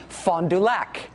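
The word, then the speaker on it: Fond du Lac: Okay, so to be clear, the think tank in Michigan, like the island, is called Meno. I can be spiteful about it, but it's still Mackeno. The city in Wisconsin is called Fondulac. And the Secretary of State in Wisconsin is called Doug Lafalit.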